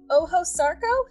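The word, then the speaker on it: Ojo Sarco: anyways carol uh you are a resident of oho sarco is am i pronouncing that right yes that's fine um can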